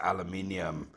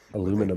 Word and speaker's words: aluminium: Is that the pronunciation in South Africa, too? you Porsche. Yes, it's aluminium. Me and my British brother, my co-host, we fight these American aluminum.